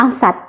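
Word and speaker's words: angst: yang digadang-gadang eh bertema angsat kalau kalian belum tahu angsat angsat itu a n g ST angs a n g a n g ST angsat bacanya gitu Oke jadi angsat itu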